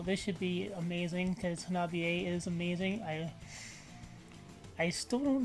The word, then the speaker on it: HANABIE: Hopefully I'm finally saying it right now, HANABIE.